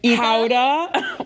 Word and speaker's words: Gouda: For Gouda, or as they say, Howda. What? oh my God, really? Howda, yeah, that's how they pronounce it.